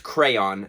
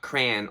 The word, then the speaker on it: crayon: I like how the Americans say mauve, but it's crayon, not crayon or crane, because what are you?